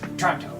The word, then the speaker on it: Toronto: was streaming Toronto Toronto they say Toronto they say it like it's t r o n Toronto I nor I normally say Toronto that's right they say tronto um like Jango anyways it was like